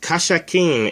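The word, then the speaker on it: 下斜筋: the inferior oblique muscle it's pronounced kashakin in japanese the first symbol is this one it's pronounced ka and it means under or below the second symbol is sha i'm not sure what this one means but it's pronounced shah the third symbol is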